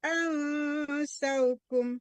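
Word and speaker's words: أنساكم: Al, ansa, ini nun sukun ketemu sa-nya. Iya kan? Jadi ikhfa. Iya, bukan dengung di sana.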